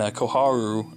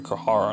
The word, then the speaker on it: Koharu: And Koharu, I'm just going to pronounce it right because I called her Kohara in the last review.